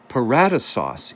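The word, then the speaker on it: paradeisos: take a look over into the New Testament paratos is the pronunciation of that word which we would then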